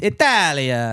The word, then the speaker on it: Italia: We're just sick of everyone pronouncing our fucking country wrong. It's Italia.